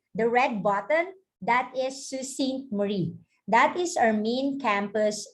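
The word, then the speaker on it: Sault Ste. Marie: is an overview or an aerial view of susan marie and this is how we pronounce her name susie marie it's a french word means rapids but don't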